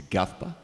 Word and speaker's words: GAFPA: Actually, it's even nicer to pronounce it in Portuguese. It's GAFPA. It's nicer.